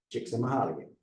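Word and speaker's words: Csikszentmihalyi: you say your name he said chicks Mahal said now I know how to say it uh I think it's mahali chicks mahali and U so I'll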